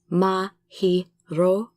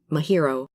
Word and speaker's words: Mahiro: And Mahiro, Mahiro, not Mahiro.